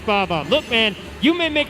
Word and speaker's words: Bob-omb: I told you, it's Bob-omb. Look, man, you may make fun of my Mario Kart pronunciation all day long, but I tell you I'm right when I say it's Bob-omb.